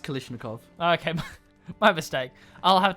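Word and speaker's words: Kalashnikov: it's pronounced Kalishnikov.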